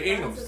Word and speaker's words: Ingham: And it's spelled Ingham. You know, my wife's maiden name, my wife is from North Florida, is Ingram. E-N-G-R-A-M. E-N-G-R-A-M. Ingram. They you know? I. They spell it I sometimes. Yeah, those but, is I-N. Yeah, but yours is I-N-G-H-A-M. Ingham. Ingham.